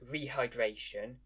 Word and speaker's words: rehydration: For example, the English word rehydration carries stress on the third syllable.